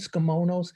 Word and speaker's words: tsukemono: off with saying that skimonos is one of the best kept japanese secrets when you say skimono it's tempting to say that t but literally it's a silent t it really means steeped